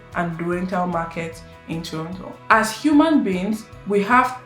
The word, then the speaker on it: Toronto: you are a local person, you probably say Toronto, which is the ideal pronunciation. But for the sake of this video, I'll be referring to it as Toronto, which is the most popular pronunciation.